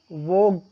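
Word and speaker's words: vogue: Next is वोग, जी यू के बाद ई आया है तो यू साइलेंट होगा, यू का उच्चारण नहीं होगा।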